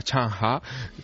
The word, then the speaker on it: Zheng He: Allí no se llama Zheng He, allí se llama Chang Ha, que es... Veo que has tomado buenas clases. Sí, allí es como lo pronuncia.